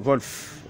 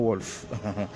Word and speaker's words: Wolf: Vous savez que en allemand, le W se prononce V, oui. Comme le père Wolf, et non Wolf.